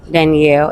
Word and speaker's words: Danielle: is Daniel Daniel really Danielle that's how you pronounce it Danielle and where are you